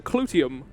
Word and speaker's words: Clyteum: Sorry, let's go to the Clyteum. That's how that's actually pronounced.